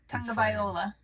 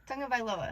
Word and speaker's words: Tagovailoa: Tagovailoa. There you go. Tua. Tagovailoa. Close. Oh, I'm saying Tagovailoa. Tagovailoa.